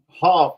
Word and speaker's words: Hof: say your last name Hof like like you think of it as H like a cough but without the sea yeah I definitely would